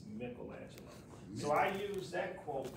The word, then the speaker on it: Michelangelo: And sometimes we say Michelangelo, but the correct pronunciation is Michelangelo.